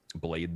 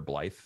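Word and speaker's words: Blaidd: that um found um blade there or blyth i guess his name is because like irish or something blyth really or welsh welsh they pronounce they pronounced dd as th th yeah that's what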